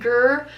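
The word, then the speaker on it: Grr: Her name is Gur. She is right here. And somebody asks how she got her name. So her name is Gur. People are always wondering how to spell it. It's just G-R-R.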